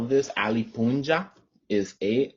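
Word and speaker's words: puncha: you spell this ali punja is a l is a l l i p u n c h a i could not explain to you why it's spelled that way but pronounced punja um it's very difficult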